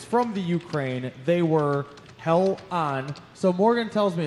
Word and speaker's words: Hellion: Hell on. You put a little spell it out for me.